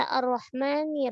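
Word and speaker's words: الرحمن: Yang perlu kita perhatikan, sempurnakan hamas pada ha, ar-rah, ya. Rah, ya, dan dia tipis. Terus ar-rahma, ma tipis juga.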